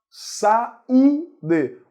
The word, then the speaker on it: saúde: Saúde é hiato. Saúde. O U é mais forte, forma hiato com a vogal anterior.